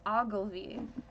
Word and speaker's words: Ogilvy: It's Ogilvy.